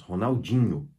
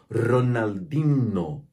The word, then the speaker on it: Ronaldinho: fala Ronaldinho para ele sem contar que o NH no espanhol é não existe então o h ele desaparece aqui na hora de pronunciar se uma pessoa hispano falante lesse esse nome do jeito que tá escrito sem nunca ter conhecido esse nome ele vai dizer Ronaldinho Ronaldinho assim que